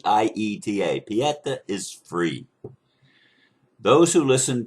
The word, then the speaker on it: Pieta: sounds almost like Peter but it's p ta Peta is free those who listen to my conversation